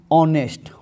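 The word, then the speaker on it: honest: एन होगा जैसे आप सोचते हुए मोहन इसे ऑनेस्ट ऑनेस्ट ह ओ एन ए एस टी किसको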